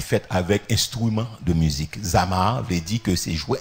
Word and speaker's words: zamar: merci éternel Hébreux ses Amar Zama comme ça se prononce Z a M a r zamar donc si on t'aime